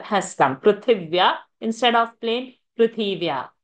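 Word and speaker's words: पृथिव्याः: So prithivya. So vya is there, conjunct. Thi of prithi is rasva sound, short sound. So prithivya. So one extra iv has come. Prithivya instead of plain Prithivya.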